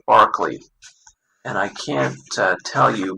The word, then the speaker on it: Berkeley: is on Bishop Barclay I've heard it pronounced that way even though some relief like spelled that way but I guess this is Bishop Barkley and I can't tell